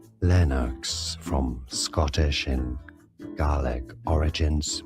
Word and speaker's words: Lennox: This is this is Lennox from Scottish and name pronunciation English pronunciation Lennox from Scottish and garlic origins meaning with many elm trees.